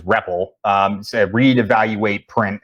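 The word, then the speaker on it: REPL: so uh rep RL commonly uh announced or pronunciated as reppel um a read evaluate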